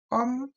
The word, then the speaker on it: Ohm: kalau R ini lambangnya ini Ohm ini bacanya Om ya Nah jadi kakak